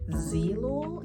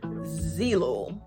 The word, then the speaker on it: Zeelool: did a partnership with zelul am i pronouncing i should know how to pronounce who i'm doing a partnership with if i'm pronouncing it based off of the spelling it's zeelo i am a huge